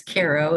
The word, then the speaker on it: Cairo: in KIRO New York they pronounce it Cairo when it's in Egypt but it's Koo in the Hudson Valley uh within a mile